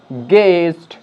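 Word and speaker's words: guest: আর এখানে আমরা ইউ এর যে উচ্চারণ সেটা আমরা পাচ্ছি না, তাই ইউ এখানে সাইলেন্ট, তাই এটাকে আমরা বলবো গেজ, গেস্ট, গিটার, গার্ড।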